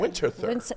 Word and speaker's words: Winterthur: How do you pronounce Winterthur. it? Winterthur.